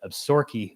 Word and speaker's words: Absaroka: east of them is the abs absaroka mountains that the locals pronounce it absorkey mountains i don't know why but